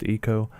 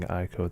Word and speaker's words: ICO: And just as a confirmation, I understand that it's meant to be pronounced ICO. I've just become so used to saying ICO that that's how I'm going to say it throughout the video.